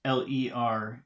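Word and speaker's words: laid: I don't know and then we have l-a-i-d and I guess that should be pronounced Le and then we have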